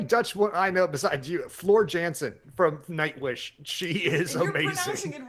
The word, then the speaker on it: Floor Jansen: I know besides you floor Jansen from Nightwish she is amazing wrong it's floriance it's an ah it's not an air not everything is an America